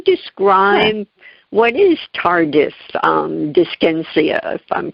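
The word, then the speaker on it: dyskinesia: So if we can can you describe what is tardis um disenia if I'm pronouncing that even correctly disynesia it's a side effect of antiscychotics.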